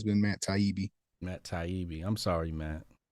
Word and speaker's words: Taibbi: Taibbei. Taibbe. Matt. Taibbe. Taibbei. Yeah. Oh, okay. I thought it was Tabibi.